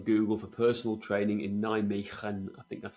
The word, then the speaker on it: Nijmegen: for personal training in Nijmegen? I think that's how you pronounce it. Okay. Nijmegen? And the answer was no. Yep. Nijmegen. You got the G.